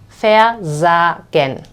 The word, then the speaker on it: versagen: But when we analyze the syllables, versagen, we notice that the second syllable, so versagen, the second syllable actually starts with this S. So in this case, we will also pronunciate it as vibrantly, Z, versagen, okay?